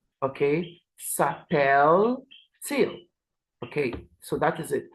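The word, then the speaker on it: s'appelle-t-il: these um differences now for e l and all we add the hyen T hyen for pronunciation so it becomes sapel till okay sapel till okay so that is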